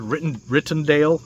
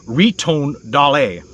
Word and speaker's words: Ritondale: And his name is pronounced, I said Rittondale. It's Aldo Ritondale. Ritondale. The A phonetically is like hey, but the H is silent.